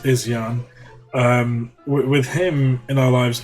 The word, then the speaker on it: Izyan: And I think with our baby, and his name's Izyan, by the way, it's pronounced Izyan.